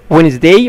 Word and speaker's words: Wednesday: طيب Monday معناها يوم الاثنين، Tuesday معناها يوم التلات، Wednesday معناها يوم الاربع، الدي ما بتنطقش، Wednesday معناها يوم الاربع، Thursday